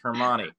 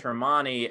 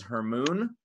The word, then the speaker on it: Hermione: of it and so she pronounced hermione as her moon her mom or her mom and uh the fans